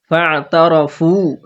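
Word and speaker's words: فاعترفوا: ফা'তারাফু, এখানে ফা এর সাথে আইনের গলার মাঝখান থেকে উচ্চারণ করতে হবে। ফা ফা, প্রথমে যদি ফা এরকম না হয়ে যায়, ফা বলে আইনে দিব, প্রথমে ফা বলবেন, ফা ফা ফা, এভাবে ফা তারা, তারা তাড়াতাড়ি পড়ব।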